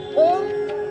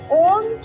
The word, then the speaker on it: ओम: ओम को सीधे ओम नहीं कहते हैं, इसे ओम का उच्चारण करने के लिए अम का उच्चारण करते हैं, ओम। और जो अ और उ का उच्चारण होता है वह 1/3 होता है, और म का उच्चारण जो है वह 2/3 किया जाता है। तो कहने का तात्पर्य ये है कि अ और उ का उच्चारण हम थोड़ा कम करेंगे और म का उच्चारण को हम ज़्यादा खींचेंगे।